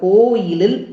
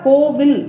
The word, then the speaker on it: கோயில்: கணபதீஸ்வரம் அப்படிங்கிற கோயிலில், அப்ப சொல்லும் பொழுதே நம்ம எப்படி சொல்லணும், கோயில் உச்சரிப்பு கோயில், கோவில். சில பேர் தவறா கோவில் அப்படின்னு சொல்லுவோம். கோவிலுக்கு செல்லுதல் இல்ல, கோயிலுக்கு செல்லுதல். கோயில் என்றாலே சைவர்களுக்கு எது, நம்மளுடைய தில்லை சிதம்பரம் தான் கோயில்.